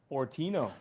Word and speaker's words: Fortino: Fortino.